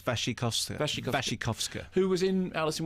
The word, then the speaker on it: Wasikowska: And in fact, I think Mia Wasikowska, is that how you pronounce it? No. Okay, how do you pronounce it? I think it's Wasikowska.